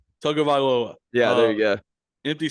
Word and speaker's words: Tagovailoa: Tagovailoa. I don't know how to say his last name. Tagovailoa.